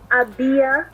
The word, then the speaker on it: AbiYah: know, they get it the way that you're pronouncing it. Sure. So it is AbiYah.